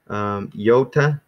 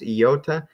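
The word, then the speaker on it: iota: then here's another vowel yota so it's like Yatta Yatta Yatta it almost is almost comes across when I say it fast yota it sounds like there's a Y in there so that's how I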